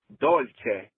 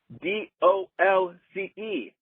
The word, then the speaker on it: dolce: sweet in Italian is dolce. D O L C E. So if it's d o l c e, it's Italian and it's pronounced dolce.